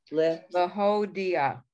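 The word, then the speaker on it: להודיע: The ayin has the ah under it. That's ah. And the chirik, the dot, and the yud make this okay, sound I guess I'm pronouncing the yud. Okay, or I shouldn't do that.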